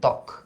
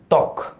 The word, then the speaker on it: ত্বক: বফলা যদি শুরুতে থাকে উচ্চারণটা হয় না। ত্বক, এটার উচ্চারণটা হইল ত্বক, সরি ত্বক, এটার উচ্চারণটা হইল স্বাধীন, স্বাধীন।